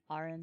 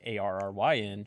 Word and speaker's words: Aaron: It's Aaron. Aaron. It's Aaron. Well, then how you say like Arryn? She's like, that's all, Aaron.